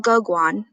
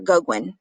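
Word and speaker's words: Gauguin: kahlo georgia o'keeffe and paul goguan i think that's how you pronounce it or goguen goguin were strongly influenced by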